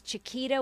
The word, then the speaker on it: Chiqeeta: you in my name it's Chiquita with qee just you know you please yeah how do you spell like the whiskey J am ii som kita like a misspelled like the banana and the other thing